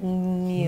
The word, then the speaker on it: Newsies: And I think you should pronounce it Newsies. With a liquid U.